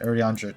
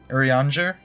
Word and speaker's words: Urianger: It's pronounced Yuri, fuck me, Urianger. Urianger? Not Urianger, not Uranger, not Urianger, Urianger.